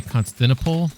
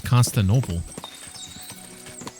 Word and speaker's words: Constantinople: Did you just say Constiniple? I thought it was Constantinople. You've been saying it wrong all along.